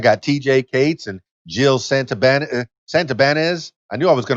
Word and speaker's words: Santibanez: She said Santibanez or something like that. Santibanez. But it's Santibanez.